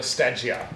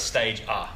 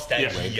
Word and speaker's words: Stagea: I'm pretty sure it's Stage A. Stage A. Stage A. Stage A. That's what I've... Not Stage E as far as we know, but Stagea.